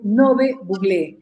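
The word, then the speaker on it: Ngäbe-Buglé: Bienvenidos, queridos amigos de Panamá, bienvenidos a la comarca Nove Buglé, que se pronuncia correctamente Nove Buglé.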